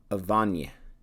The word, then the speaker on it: Avane: In English, it'd be like Avane or Avani, but I'm guessing it's Avane.